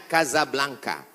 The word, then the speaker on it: Casablanca: nama negaranya Maroko ibukotanya tulisannya Casablanca cara bacanya Kasablanka Kaza artinya rumah Blanca artinya putih Kasablanka rumah warna putih bahasa